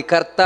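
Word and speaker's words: ಕರ್ತಾ: ಅಷ್ಟೇ ಕ್ರೋಧ ಕ್ರೋಧಕೃತ್ ಕರ್ತ ನೋಡಿ ಕರ್ತ ಅನ್ನೋದು ದೀರ್ಘ ನಂತರ ವಿಶ್ವ ಬಾಹುರ್ಮಹಿ ಧರಹ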